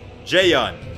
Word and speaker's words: Jaeyun: handbook black jay-yong okay now I know how to say his name I've been saying Ju in this whole time jae-young so let's do black